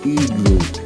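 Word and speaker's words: iglú: That's how you say it in English, but in Spanish it's igloo, igloo.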